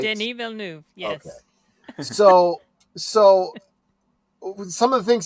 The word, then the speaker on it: Denis Villeneuve: It's Denis Villeneuve, right? Denis Villeneuve, yes.